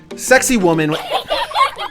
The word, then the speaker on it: Sacsayhuaman: Sacsayhuaman-- No that's just-- that's how it's pronounced.